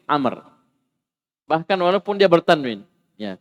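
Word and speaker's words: عمرو: Kalau tidak ada wawunya, Umar. Jadi sini ada wawunya, jadi panggil Amr.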